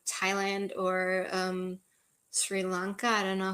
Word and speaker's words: Sri Lanka: but um probably Asia like Thailand or um Sri Lanka I don't know how you pronounce that in English that's correct Sri Lanka yeah so um that might be my um